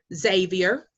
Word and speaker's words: Xavier: I had one student, she went down to Xavier, that's how you say it, Xavier University, HBCU, wonderful school, but guess what?